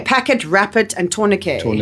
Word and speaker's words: tourniquet: tourniquet, it's the word It's the word that's spelt with the the ET at the end. Okay, so Exactly. said tourniquet.